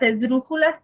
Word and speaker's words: esdrújula: Las esdrújulas tienen su sílaba tónica en la tercera sílaba de atrás hacia adelante y se acentúan siempre. Por ejemplo, la misma palabra esdrújula es una palabra esdrújula. Si yo la divido, esdrújula.